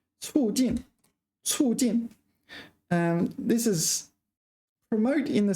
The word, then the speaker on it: 促进: It's a very common word and a word I've been pronouncing wrong for a long time. 促进. And just to emphasize that, I'm going to add the pinyin here. 促. Fourth tone. 促进.